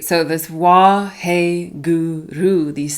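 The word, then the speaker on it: Waheguru: is W he guu so four syllables wah he Guru wah he Guru and this Mantra is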